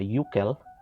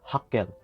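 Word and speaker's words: Hückel: So, you have this particular property called the Uckel aromaticity or Huckel aromaticity. Depende yan sa ating pronunciation. Okay?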